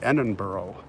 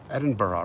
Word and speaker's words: Edinburgh: do you pronounce it i know it's not edinboro edinburgh right okay still raining here